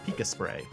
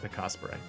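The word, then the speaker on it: Pikasprey: y I think so like Osprey like the bird but Pika before it so like pikas spray kind of thing but he pronounced it picas spre anyway um he does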